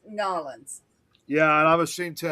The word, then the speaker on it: New Orleans: Nolans. Them Nolans. people get downright vicious when you mispronounce their town. Yeah, I'm Yeah, ashamed New to admit I said, Orleans or New Orleans. It's Nolans.